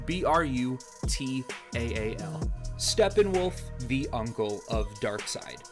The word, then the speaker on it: Brutaal: His allies are Darkseid, Desaad, and the Hunger Dogs, and his enemies are the Justice League and Brutal, or Brutal, however you want to pronounce it. Brutaal.